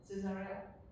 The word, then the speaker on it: Caesarea: century in Palestine, we have to go to Caesarea. Did I pronounce it well? More or less, Caesarea?